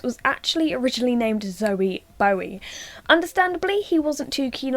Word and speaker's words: Bowie: So one way to prove that Bowie is pronounced Bowie is by thinking of this name. His son Duncan Jones was actually originally named Zoe Bowie.